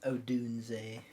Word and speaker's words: Odunze: I have them taking wide receiver in Rome Oduns. Or Oduns, how do you say that? Oduns? Odunze. Odunze.